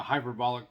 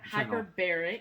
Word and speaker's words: hyperbaric: And then I even heard that maybe a hyperbolic chamber, how am I saying it wrong? Hyperbaric.